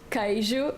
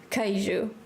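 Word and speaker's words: queijo: kou it's completely different cheese we call it kuu in Portuguese and it's spelled oh boy Q U EI i j o I think I said it right sometimes it's weird sometimes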